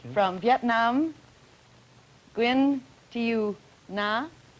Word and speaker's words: Nga: My name is Nga, but you pronounce it Na. It's so different.